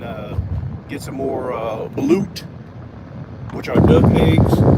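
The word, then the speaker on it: balut: Hey Yeah, since I'm down this way, I probably stop and like I was saying, and uh get some more uh blute, which are duck eggs.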